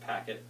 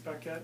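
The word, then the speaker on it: Paquette: has to be does think it's pronounced packet actually I mean I think it's pette he's kind of Frenchy but you don't you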